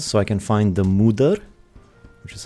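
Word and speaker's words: Moder: new mountain areas so I can find the Mudur, which is how you pronounce it.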